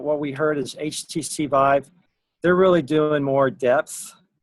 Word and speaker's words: Vive: Oh, Vive, not five.